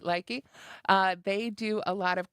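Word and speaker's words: Lykke: And I've talked about this brand before here on Moogly, Likey, which I think is finally how I've got it pronounced right, Likey.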